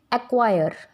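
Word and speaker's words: acquire: और C जब Q letter के पहले आएगा, before the letter K एंड Q, it will become silent. As इट इज़ इन एक्वायर, एक्वायर, acquisition.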